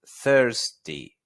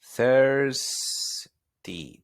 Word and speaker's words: thirsty: La palabra sediento es thirsty. Thirsty. Tengo que pronunciar la S, si no va a sonar a 30. Va a parecer que digo tengo 30 años, ¿sí?